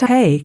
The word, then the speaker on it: He: Jehovah or jhvh but the letter he pronounced hey is female and its